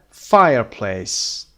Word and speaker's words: fireplace: second syllable number five fireplace fireplace the first syllable is stressed and now can you